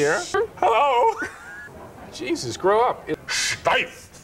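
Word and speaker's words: Steiff: Steif. You got to say it like you're going to invade France, you know?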